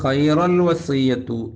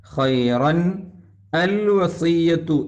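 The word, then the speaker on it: خيرا الوصية: ആമത്തെ ആയത്ത് തറക്ക ബാക്കി ചില ആളുകൾ ഹൈറൽ വസിയ്യത്തു എന്ന് ഓതും പാടില്ല ഹൈറൻ അൽ വസിയ്യത്തു എന്നാണ് ഉള്ളത് ചേർത്തി ഓതുമ്പോൾ അൽ വസിയ്യത്തു എന്ന് പറയുന്ന ആദ്യത്തെ ഹംസത്തുൽ വസ് ഉച്ചാരണത്തിൽ വരാതെ വസിയ്യത്തു എന്ന് വേണം ഓതാൻ നിൽ എങ്ങനെ വന്നു തൻവീൻ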